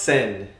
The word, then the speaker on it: Sen: No, it's literally Well, it's pronounced sin.